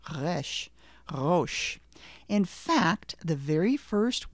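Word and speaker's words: ראש: It's a difficult one because it has that guttural sound at the beginning, but let's try anyway.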